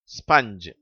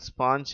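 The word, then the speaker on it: sponge: மங்கி mother rubber shovel ஸ்பஞ்ச் இதிலே கடைசி வார்த்தை தவறாக ஸ்பாஞ்ச் என்று உச்சரிக்கிறார்கள் அதனுடைய சரியான உச்சரிப்பு ஸ்பஞ்ச் மங்கி மதர் ரப்பர் ஷவல்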